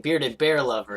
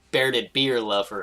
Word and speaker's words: Bearded Bear Lover: At least it's not Rich pronouncing Bearded Bear Lover as Bearded Beer Lover again.